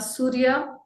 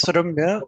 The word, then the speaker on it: Suramya: Surya, Actually, it is Suramya, so it is very difficult Suramya. to pronounce.